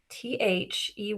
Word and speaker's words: they: what is this word th ey it has the the digraph like thumb with th and this makes a long a a they they not to learn more